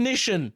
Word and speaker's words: Nissin: Yes, Nissin is how it's pronounced, though.